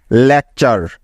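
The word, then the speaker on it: lecture: চারটি বর্ণ মনে রাখবে টি ইউ আর ই এই চারটি বর্ণ মিলে একটি ওয়ার্ড প্যাটার্ন তৈরি করে যার উচ্চারণ সবসময় হবে চার এর মত কি মনে থাকবে তো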